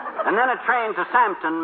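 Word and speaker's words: Southampton: then a train to samton maybe uh uh samton s o u t h h a m p t o n santon yes and then a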